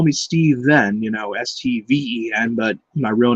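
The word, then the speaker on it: Stephen: P 22589 or Brandon plumbley always called me Stefan which I did not like because sometimes he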